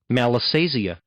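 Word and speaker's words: Malassezia: Let's just confirm I'm pronouncing malisesia correctly. Go. Malisia. All right. Close. Malisia. Malisia. Malisia.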